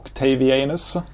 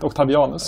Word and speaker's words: Octavian: Or Octavianus. Or how do you pronounce it? Octavianus? Octavian, I think. Octavian is the English word, yes.